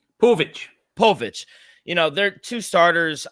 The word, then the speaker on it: Povich: Bobby Miller and Kade pav how do you pronounce his last name pvic Povich you know they're two starters I I think